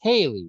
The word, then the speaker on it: Haliey: is spelled weird because it's pronounced Haley, right?